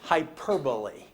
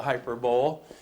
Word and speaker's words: hyperbole: whole world that's called hyperbole you you look at the way it's spelled and you're tempted to say it's the hyperbole but it's not the hyperbole hyperbole overstating your point to